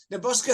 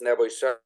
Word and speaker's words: Nebojša: There's Naboska, whose name I probably mispronounced, and he will tell me how to pronounce it properly, and Richard Kirkwood. So first, Naboska. Thank you, Nebojša. It's Nebojša.